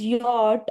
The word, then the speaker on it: yacht: Because it is yacht and the spelling is very tricky.